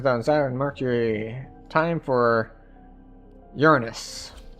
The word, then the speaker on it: Uranus: Time for Uranus. Or Uranus, depending on how you want to pronounce it.